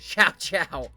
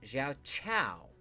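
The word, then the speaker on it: Xiao Qiao: Uh, we have three members of the Lu clan and Sha Chow. Who do we play as? Lucun, Lusu, Lumen, or Shao? Although I think it's pronounced Xiao Chow.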